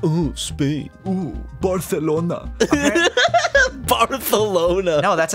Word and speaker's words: Barcelona: So apparently, in Barcelona, they Barthelona. It's pronounced Barthelona. Like that's how they Barthelona. Say it. I know someone that went there, and they were like, "Yeah, everyone like corrects you to say Barthelona."